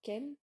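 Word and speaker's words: 剣: Ken a collé un gigantesque Ken, un kanji qui, dans l'alphabet japonais, se prononce Ken et signifie épée ou sabre.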